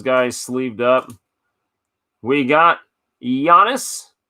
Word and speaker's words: Giannis: sleeved up we got Giannis made the mistake once of pronouncing the G Anthony Davis another nice